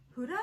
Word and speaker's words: Huda: In this giveaway, you are going to receive Huda, is that how you say it? Yes, Huda Beauty.